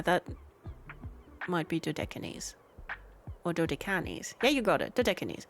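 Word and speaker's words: Dodecanese: A journey to the deserted places of the Oh, I'm not sure how to pronounce that. Dodines. Oh, yeah. That's Greek. Okay. Yeah, that might be Dan or Dodicanis.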